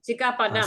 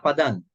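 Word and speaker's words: sikkhāpadaṃ: Sikka Padang. You don't say Sikka Padan, not Padan. Sikka Padam. M sound. So this is one of the ways of pronouncing the Niggahita in Pali. So it is M.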